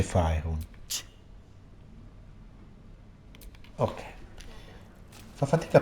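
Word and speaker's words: Faerûn: Fey run. Si dice Faerun.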